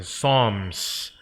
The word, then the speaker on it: Psalms: P도 묵음이고요. L도 묵음입니다. 그래서 Psalms, where God and people meet heart to heart.